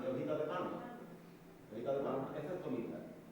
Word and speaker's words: tomiza: Tomita. No, es que Tomiza con Z, ¿no? Tomiza. Con TZ. Tomiza.